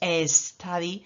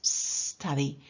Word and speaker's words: study: verbo study estudiar stady Cuidado con la pronunciación recordad que no es estadi que es study my Monster University vale